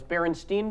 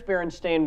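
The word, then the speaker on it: Berenstain: room feel on this Baron Steen Bears Baron stain Bears how do you remember it what do you remember do you remember you remember with an e and then who said stain jmax says Baron stain what the Jamal I was a huge fan and I think I always said barenstein yeah e or a I'm thinking an I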